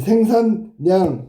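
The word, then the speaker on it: 생산량: 발음 반드시 외워두도록해. 의견난. 그죠? 임진난. 난이야. 난 난 요게 바뀐 거야. 요게 알았니? 어. 그다음에 생산냥 뒤에게 바뀐 거야.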